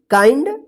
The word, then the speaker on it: kind: तो क्या पढ़ेंगे इसको, काइंड बाइंड, इसको बिंड मत पढ़िएगा, किंड मत पढ़िएगा, नहीं तो गलत हो जाएगा, ठीक है ना।